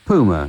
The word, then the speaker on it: Puma: That's called Pay Your Rates, and before that, it was Puma, as he pronounced it, or Puma, as I would pronounce it, on Select Records.